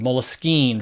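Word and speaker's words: Moleskine: company in Paris France it was a French word Mullis keen just why I pronounce it Mullis keen but people suggest that the French took it from the word moleskin the English word meaning the instead of a leather-bound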